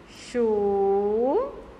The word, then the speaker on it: churrasco: Churrasco.